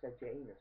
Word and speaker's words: Sejanus: That one's got Sejanus on it, and I said it right, it's got Sejanus on it, and Tiberius, he's making Sejanus a consul in that one.